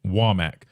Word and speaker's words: Womack: Coach Womack has two M's, so I guess the pronunciation is Womack, which makes sense.